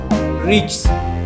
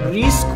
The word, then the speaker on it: RIX: و بوسکنده توضیح بدم، اونم تلفظ اسم این برنامه است، ریکس. آدم باید تو زندگیش ریکس کنه، ریسک و میسک و اینا تعطیله، ریسک مال بچه سولاست، درستش ریکسه.